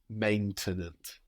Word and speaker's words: maintenant: to think again, okay, what do I know about French and how will it affect how I pronounce maintenant? Maintenant.